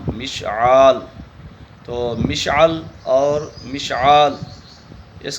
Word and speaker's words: مشعال: معنی بتاؤں گا۔ مشعال نام کا صحیح تلفظ جو ہے وہ ہے مشعال، میم کے نیچے زیر کے ساتھ شین کے اوپر جزم، آگے عین الف اور آخر میں لام، مشعال۔ تو مشعل اور مشعال